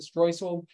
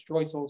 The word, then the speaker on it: Streusel: We'll start with the first part, the streusel, or if I pronounce it streusel, same word. I learned it from a German chef, so he always says streusel. So comes out the German word.